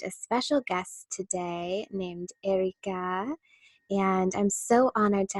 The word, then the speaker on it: Erikaa: are Thank You Serena my name is Erica you do not have to roll your R's and to loves to